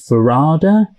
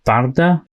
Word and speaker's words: Varada: name isn't pronounced as Varada, because we all kept saying Varada Sethu, but her first name, I think she pronounces it as Varda. Hello, I'm Ncuti Gatwa. And I'm Varda Sethu from the newest season of Doctor Who.